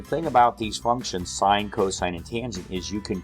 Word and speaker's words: cos: looks like sin and this is still pronounced cosine even though it looks like cos so when you're dealing